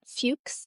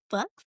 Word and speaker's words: Fuchs: I'm going to pronounce that Fuchs as opposed to Fuchs? Yeah. It's spelled Fuchs. Fuchs. We'll say Fuchs.